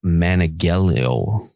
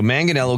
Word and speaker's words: Manganiello: Manganiello. Joe Manganiello is heading the project. So Manganiello gave a quick update on a documentary that